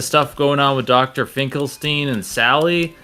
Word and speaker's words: Finkelstein: Finkelstein in the movie, but for some reason in the video games they call him Finkelstein, and I'm like, no, it's Finkelstein.